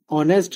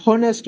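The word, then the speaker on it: honest: যেমন আমি যদি বলি রিনা ইজ এান অনেস্ট গার্ল। এইখানে দেখেন এইচ দিয়ে শুরু হলেও কনসোনেন্ট দিয়ে শুরু হলেও আমরা তার আগে এন বসাইছি। কারণটা হচ্ছে এখানে অনেস্ট অর মত উচ্চারণ হইছে। আমরা হনেস্ট বলি নাই।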